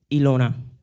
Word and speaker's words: Elona: Ilona. That's my name. Spell it?